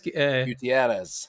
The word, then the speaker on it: Gutierrez: And then in in the Lost World, the stuff where they bring uh Marty uh I'm going to say his name wrong. Gut Gutterz Gutierrez.